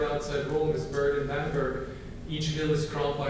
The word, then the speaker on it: Bamberg: And I was born in Germany in 1958 in a beautiful town in Germany called Bamberg, to use a proper German pronunciation. Americans use it Bamberg, but it's Bamberg.